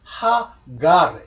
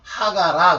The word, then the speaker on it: 하갈: 근데 요게 이제 아갈 이렇게 붙였지만은 실제 여기 보시면요 아스트로피 이렇게 찍히면 여기에 H자가 붙어서 하갈 이렇게 되는 겁니다. 하갈 근데 알자 발음을 영어식으로 안 하면서 하가라 그런 거예요. 하갈이라고 해야지.